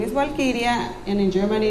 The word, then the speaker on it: Walkiria: Mi nombre es Walkiria y en alemán se pronuncia Valkyria. My name is Walkiria, and in Germany it's pronounced Walkiria.